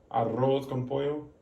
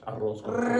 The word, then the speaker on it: arroz con pollo: Do you know how to roll your R's? Arroz con pollo. Can you say that?